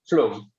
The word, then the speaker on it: Flum: Flum or Flum? Flum. Flum, okay. Yeah, but it comes from Flum.